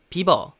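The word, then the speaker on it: Bieber: 그래서 우리 말로는 이번 하고서 더 있어서 비버 비버 라고 짧게 바람 할 수가 있는데 사실 영어로 발음할 때는 b 입어 처럼 발음을 해 줘야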